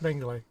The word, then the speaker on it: Mengele: Oh, it's Mengele? I thought it was Mengele. But anyway, yeah. It's pronounced Mengele.